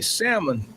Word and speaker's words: Salmon: Barrington Salmon, I pronounce his name, Salmon, has been all over the world covering stories from Ethiopia, the Virgin Islands, and elsewhere.